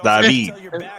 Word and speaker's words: David: It's pronounced David. Thanks, David. It's David. Devontae David, okay?